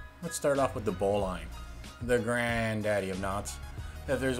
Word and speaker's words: bowline: You can't call yourself a sailor if you don't know how to tie a bowline. If you really want to sound salty, pronounce it bowlin, like Jeremy Lin, instead of bowline.